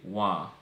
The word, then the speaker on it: wa: speech, and that is the word one, but over time we ended up pronouncing it wa, which you will commonly hear in Jamaican Patois in place of a.